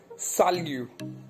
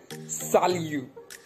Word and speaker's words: salut: So your first basic greeting is salut. How do we say this word? Salut. S-A-L-U-T. On pronounce, we pronounce like salut.